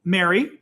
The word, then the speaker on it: Mary: with someone right and we say them the same way in Chicago I moved out here to Washington and people say them in the east coast of the US they pronounce these as three different words which blows my mind um blew my because we say Mary is a woman Merry Christmas and I'm G to get married right so he's going to